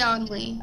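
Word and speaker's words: Onley: Only? Is that how you pronounce his name? Yeah, David C. Only.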